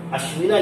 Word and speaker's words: अश्विन: और ध्यान रखना लास्ट में ए साइलेंट रहता है ना। भले से वो अश्विना लिखा हुआ है लेकिन हम अश्विन पढ़ेंगे उसको।